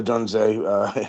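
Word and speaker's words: Odunze: I'm going Moore Adunze, is that how I pronounce his name?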